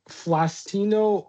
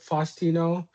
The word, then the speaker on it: Faustino: Um, Flastino Oro.